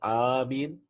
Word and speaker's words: آمين: So, some said it is Amin, right? Like Yasin, right?